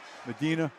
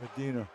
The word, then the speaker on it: Medina: I pronounced that correctly. Medina. Brian Medina.